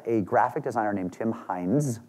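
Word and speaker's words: Hindes: This was created by a graphic designer named Tim Hines, not spelled like the ketchup, which is a Pittsburgh company, Hines Ketchup, but H-I-N-D-E-S, who was driving home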